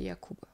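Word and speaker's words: Jakub: l'origine du du nom et si c'est une prononciation qui est basée sur l'allemand ou un allemand polonais polonais. Bah oui, c'est c'est Yakub.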